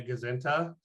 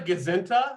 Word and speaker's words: gazinta: It's called a gazinta, which I think is spelled Gazinta, but it really is a sort of contraction of goes into.